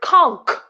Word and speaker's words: conch: it right is it conch of it's conch like it's pronounced conch with a K even though there is this CH at the end it's spelt free oh